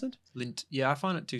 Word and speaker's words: Lindt: Is that how you pronounce it? Lindt.